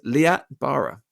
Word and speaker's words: Liat Barer: host Joe burage and with me today is leat Bara welcome to the podcast leat you doubt you pronounced it perfectly yeah I won I was